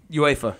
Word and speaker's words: UEFA: UEFA, yeah.